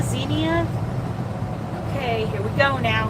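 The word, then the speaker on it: Xenia: Is that pronounced Zenia? X E N I A Zenia. Zenia.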